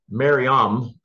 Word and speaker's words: Mariam: How do you say it? Mariam. Okay, I'm sorry. Susan corrected me there.